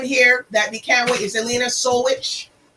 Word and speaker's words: Jelena Solujic: that the camera is elena soulwitch we just got the right um pronunciation of it it's serbian it's perfect pronounced you know i'm telling